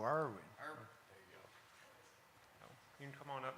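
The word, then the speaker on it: Erwin: Pronounce her last name again. E-R-W-I-N. Oh, Irwin.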